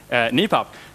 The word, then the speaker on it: NIPAP: on a topic of how to pronounce knee pop the Knights that say me say me pop and everyone else is you're welcome to pronounce it however you please right thank you very